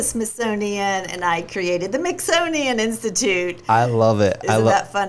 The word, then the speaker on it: Mixonian: Yes, at the Mixonian Institute, which rhymes with Smithsonian, everybody.